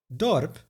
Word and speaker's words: dorp: Dorp becomes dorp, village.